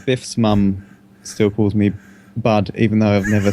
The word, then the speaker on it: Budd: Well, a lot of people in England call me Bud. Bud. B-U-D-D, because I was a But some people spell it B-U-D, Bud.